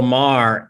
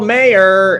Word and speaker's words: Maher: i i write for real time with bill maher and people will mispronounce his name they'll like give it up for bill mayer and it's like you're a comic man how